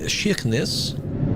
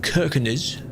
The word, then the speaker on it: Kirkenes: But that's how you know, well, that's how you learned how to say Kirkenes, that kind of thing, instead of Kirkenes.